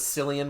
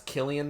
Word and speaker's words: Cillian: actually know it's like for the longest time i thought his name was cillian murphy but then i find out it's killian murphy is it like the